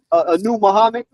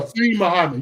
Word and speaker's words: Muhsin Muhammad: Anu Muhammad, Yeah, I remember the him. big possession receiver. Yeah. You mean Yeah. Muhsin Muhammad?